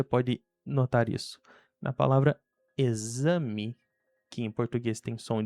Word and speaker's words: exame: Enquanto na palavra exame ela tem o som de Z.